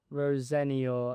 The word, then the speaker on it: Rosenior: Um, firstly, how do you pronounce it? Rosenior.